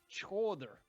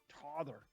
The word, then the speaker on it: tether: The word I'm going to say is pronounced chother. Tother. I don't know. TJO with an accent on it. Oh, yeah. THR. Sure. And that's from the Germanic base meaning fasten.